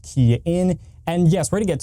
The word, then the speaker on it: Kian: Hey everybody, it's Kian with the RideShare Guy, pronounced Kian.